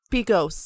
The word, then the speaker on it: Begos: V F W by Joe bigos P ghost that's how you say it I didn't know that